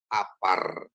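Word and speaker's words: עפר: Kalau ain dikasih kamats dia jadi a, p dikasih kamats jadi pa, tambah r menjadi apar.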